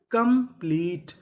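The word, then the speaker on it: complete: क्योंकि आखिरी में इ है। हमें इ का उच्चारण नहीं करना। तो मीनिंग क्या बनी? कंप्लीट।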